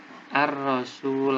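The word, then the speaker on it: الرسول: ar-rasul a r Sule pembacaannya al-syamsiah Hai karena sebabnya ada alif lam bertemu dengan roknya itu huruf Al Syamsiah cara membacanya langsung dimasukkan hatinya alamnya tidak terbaca ar-rasul hai wa atiurrasul Hai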